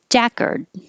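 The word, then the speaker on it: jacquard: hear the l world jackard the vowel is ah okay that's it it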